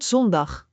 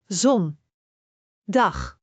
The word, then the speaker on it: zondag: Ik the Dutch foul o sounds like the O in more. For example, in the word zondag which means Sunday, let us break it down. Zon. Dag.